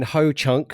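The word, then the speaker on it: Hoocąk: so in in Ho chak in is in Ho Chunk so it is spelled h-o-o-c-a with a little tilde on the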